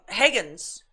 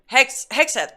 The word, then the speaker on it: Hegseth: Higgins. Did I say his name right? Higgins? Hegseth. There you go.